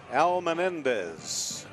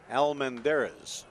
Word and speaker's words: Almendarez: New pitcher in the ball game is a right-hander, Frankie Almenendez. Al Menendez out of Freeport, Texas. 6'1", 180-pounder out of Texas College. Al Menendez delivers. Breaking ball down and away. Proper pronunciation is Frankie Almendarez.